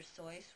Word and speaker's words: Seuss: It's Dr. Seuss, rhymes with voice, and he hated children.